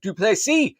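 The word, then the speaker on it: Du Plessis: UFC 305 headline by drus dup the S is silent and Israel ad AA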